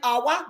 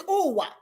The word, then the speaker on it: Uwa: Is it Awa? No. It's Uwa. Uwa? No, not Uwa. Uwa.